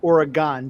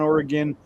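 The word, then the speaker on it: Oregon: we've always pronounced it Ore-gon cuz it's g o n like pentagon. Pentagon, octagon, Ore-gon. G o n is gone. I don't know why you say gin, but yeah, whatever. So, yeah, Ore-gon, Ore-gin.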